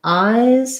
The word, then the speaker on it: eyes: So ice has the I diphthong and an S, and eyes has the I diphthong and a Z.